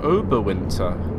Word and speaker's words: Oberwinter: And we are coming up to Oberwinter.